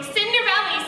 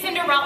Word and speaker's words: Cinderella: to say my name they're always running around going cinderelly cinderelly gets cinderella up there is an